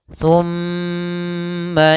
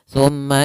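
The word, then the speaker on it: ثم: Cara membacanya yaitu suara mimnya ditahan. Thumma idza, jangan langsung, jangan thumma idza, tidak, tapi tahan dulu suara gunnahnya.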